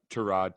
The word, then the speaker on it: Tyrod: so la chargers named tyrod taylor or to rod taylor as he like to pronounce it over justin herbert which